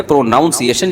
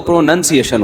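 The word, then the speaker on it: pronunciation: प्रोनाउंसिएशन जब होगा तो प्रोनंसिएशन होता है।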